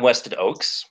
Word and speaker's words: Weston Ochse: how you doing I'm WestEd Oaks it doesn't look like it's it's pronounced that way but I promise you it is Harlan Ellison had a